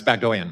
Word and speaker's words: Bagdoyan: It's Bagdoyan, Mr.